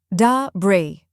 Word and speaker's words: debris: correct pronunciation is De du Bri notice something the S at the end is silent many people mistakenly say